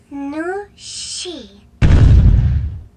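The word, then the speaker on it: 女士: Your hello was perfect, but remember, the last syllable of miss has a falling tone. Nui shi. Nu shi.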